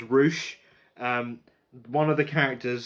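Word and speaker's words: Rouche: correctly for some reason his name is spelt ro you see AG which it's just douche but with an R right so it's Roush one of the characters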